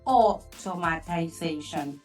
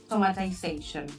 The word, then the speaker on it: automatization: I will correct one word pronunciation of one word. Lucas, it says automatization. Everything. Yes. Everything that has to do with automatic is automatization. Perfect. So from now on everybody when you say automatic automatization.